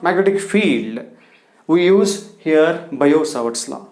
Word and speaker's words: Biot-Savart: can observe bayout sabatsla but in this t is silent we have to read how to pronounce it as bio t cell bio savart's law this to this guys